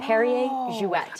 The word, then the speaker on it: Perrier-Jouët: consonant in Jouet, but because there's an umlaut over the E here, we are going to pronounce it. It's Perrier Jouet.